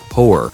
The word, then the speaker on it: hoer: In Dutch, it is called hoer and is pronounced almost the same way as the English word whore.